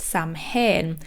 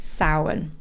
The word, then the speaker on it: Samhain: out that in my Halloween episode, I incorrectly pronounced it Samhain because that's how it's spelled. So I just want to apologise for that and just correct myself and say that it is actually pronounced Samhain.